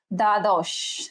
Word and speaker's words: দ্বাদশ: আচ্ছা, দ্বাদশ, তাহলে বয়ের উচ্চারণ হবে না, কি হবে? দ্বাদশ, দ্বাদশ।